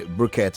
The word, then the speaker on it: briquette: Okay, briquette, as it were. It's spelled with a Q, but it's pronounced with a K.